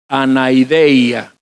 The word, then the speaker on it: anaideia: Nos vamos a meter en la palabra clave, anaideia. Alguien que la pronuncia, anadeia.